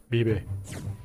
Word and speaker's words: Bibi: That is not how you say my name. My name is Bibi.